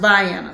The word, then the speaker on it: Vienna: and a georgia baby it looks like vienna austria vienna but it's pronounced by anna so i am chilling